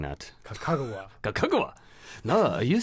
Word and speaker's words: Kakegawa: in kakegawa Japan but I'm probably mispronouncing that kakegawa na you say kagra but it's pronounced kakegawa you see a big difference between Google and